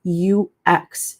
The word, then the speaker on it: UX: Um this is UX. So, I hear some people say you eeks, but it's actually UX. So, UX UI designer.